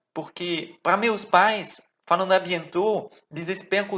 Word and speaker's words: à bientôt: À bientôt. Não vai falar o T, né? Bientôt. Não. À bientôt. Bom, super tranquilo.